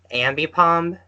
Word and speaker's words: Ambipom: hope I'll be I'm saying its name right ambipom yep no you're saying it right yeah I